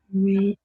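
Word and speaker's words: ברית: Berit. Shema. Kedusha. Okay, and as you notice in Hebrew, a lot of the words are pronounced emphasis on the last syllable.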